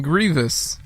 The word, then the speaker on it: Grievous: three General Grievous what what's how do you pronounce it Grievous yeah oh J Grievous okay all right Kuma